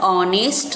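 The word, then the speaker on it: honest: Number 7 example, वंस again I would like to remind you here, in word ऑनेस्ट the letter H is silent, the ऑनेस्ट, means यहाँ पर द ऑनेस्ट नहीं बोलेंगे कभी भी हम, correct इसका pronounce क्या है, दी ऑनेस्ट।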